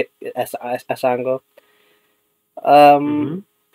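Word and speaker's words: Un-Go: spelled u n g o uh but it's pronounced as as ango um and we already did a stream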